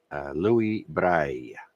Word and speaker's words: Louis Braille: So you can thank Louis Braille. In French, it's pronounced like that.